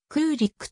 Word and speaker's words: クーリック: では 1 位彼女のファミリーネームであるコリックの読み方に関して日本語の文献には公リックやクリックなど複数あるここでは英語読みした時のクーリックとするケイティクーリックはアトランタ